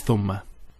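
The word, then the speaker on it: ثُمَّ: And there is a word which is spelt almost the same way as thumma, and it is thamma.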